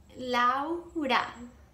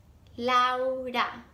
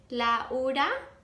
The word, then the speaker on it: Laura: How many syllables is that? That's two syllables, right? If you use three syllables instead, so like if you say Laura, it's a bit different, and if you say la hora, it actually sounds like la hora, which is the time.